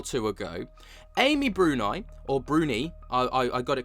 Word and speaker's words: Bruni: a week or two ago, Amy Brunai or Brunie, I I I got it completely wrong in that video. I've been corrected many a time in the comment sections. Is Amy Brunie, I will get that right from now on.